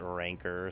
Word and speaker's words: rancor: Like I actually looked it up to see and like every single pronunciation thing I found called it ranker. So I was like, well maybe I'm wrong. Maybe I'll just call it rancor anyways because it just sounds cooler.